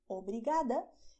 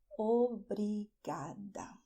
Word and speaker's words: obrigada: You say "thank you" "OBRIGADA" if you are a woman.